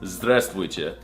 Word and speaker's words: здравствуйте: No, that's not how you say it. It's здравствуйте. Did you not learn anything from this video?